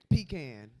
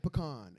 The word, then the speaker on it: pecan: that irritates the hell pecan y'all said pecan it's pecan pecan it's pecan so